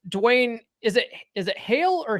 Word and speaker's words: Heil: his name is Dwayne is it is it hail or heel how do you pronounce that Heil Heil I was way off okay his name